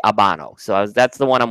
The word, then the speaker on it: Habano: Yeah, I had to correct Habano and say Habano.